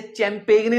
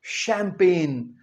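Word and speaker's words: champagne: शैंपेन सी एच ए एम पी ए जी एन ई इसे चैंपेग ने नहीं कहना। ये क्या है? शैंपेन।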